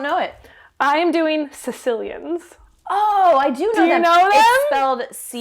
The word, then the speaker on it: caecilian: I am doing caecilians. Oh, I do know Do you them. know them? It's spelled C-A-E. Caecilian. Okay, And yeah.